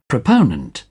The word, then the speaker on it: proponent: यानी फॉ को आपने लंबा करना है। प्रोपोनेंट, ये बिल्कुल नेटिव जो इसका प्रोनाउंसिएशन है वो भी आप सुन के देख लें। प्रोपोनेंट, प्रोपोनेंट, प्रोपोनेंट। proponent, proponent, proponent, और अब